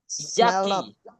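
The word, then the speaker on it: yucky: Yuk, yaki bacanya tulisannya Yuki bacanya yak.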